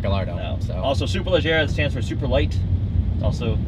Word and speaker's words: Superleggera: Even though Lamborghini is an Italian company, it is not Gallardo, and it is Superleggera, not Superleggera.